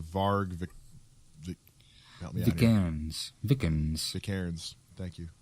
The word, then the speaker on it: Vikernes: Vikernes. Thank you. Vikernes.